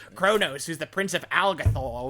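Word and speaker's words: Qo'noS: Alpha 5 hint konos but it's pronounced like Kronos it's spelled qo- n capital S Kronos it's pronounced Kronos Babylon five oo Star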